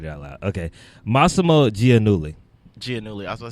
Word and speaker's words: Giannulli: Okay, Massimo Giannulli. I was going to say Giannulli.